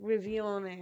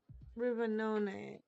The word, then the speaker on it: Rivanone: I keep on wanting to call it like Rivione or something like that, but it's Rivanone and Riviora.